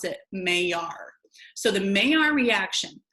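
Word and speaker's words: Maillard: May our reaction I know it looks like maelard but it's a Frenchman's last name the French chemists last name and you pronounce it may R so the main our reaction I want you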